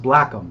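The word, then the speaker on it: Blackham: ACK ma ma H am black but it's pronounced black them so so I've spelled it BL ACK e/m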